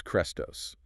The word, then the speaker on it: Chrestos: All right, the first word is Chrestos, spelled with the Greek letter eta, which is like a long E sound, though pronunciation varied.